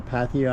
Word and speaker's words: Pattaya: Had you ever go to Pattaya? I think it's pronounced Pattaya, Thailand.